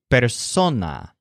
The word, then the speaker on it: persona: Joel's general word for person which is better sona with a stress on some note that this tracing